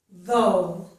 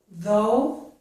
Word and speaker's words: though: But notice that the GH is not pronounced in these words.